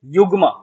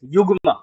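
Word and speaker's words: zeugma: Next, seventh, its pronunciation is yugma, z इसमें silent है, it's yugma. So when a verb or an adjective is used for two nouns, right.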